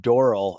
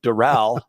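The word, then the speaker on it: Doral: a city last night I said dorl and you were like uhhuh uhhuh and then you go you could call it D Dural but you can call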